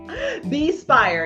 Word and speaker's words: Bespire: new project that's upcoming I don't want to mispronounce it but I think it's called be Aspire be Spire yes Be Inspired there you go there you